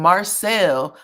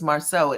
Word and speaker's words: Marsau: She was calling him Marcel, a combination of Martell and Marsau. Martell had to say his name is Marsau at least twice.